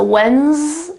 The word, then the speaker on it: Wednesday: So it's an S sound actually. So Wednesday, and then of course day, Wednesday.